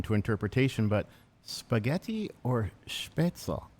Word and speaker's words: Spätzle: Our next question then, and this one is maybe not so open to interpretation, but spaghetti or spätzle? How do you say, spätzle or spätzle? Spätzle.